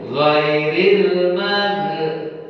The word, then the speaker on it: ghairil: yang perlu kita perhatikan zairil itu ada bertanda sukun lairil Man jangan kita jadikan Qalqalah ini keliru ghairil jangan sampai ini